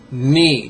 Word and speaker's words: ni: 3rd syllable. Ni. Just like K-N-E-E.